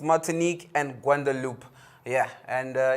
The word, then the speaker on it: Martinique: i got them right i was saying it's mating yeah matinki or whatever but it's martinique it's martinique and gwandalup yeah and